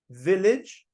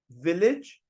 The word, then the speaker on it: village: Again, this is more British than American, but the second letter A right here is not pronounced as it's pronounced as I. Village, village. We don't say village or something like that. We use the second A as I. That's the sound we're making. Village, village.